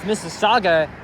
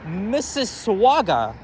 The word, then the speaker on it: Mississauga: He said they went to Burlington, and then he was trying to pronounce Mississauga. Here's how he said it. He said, "Missiswaga."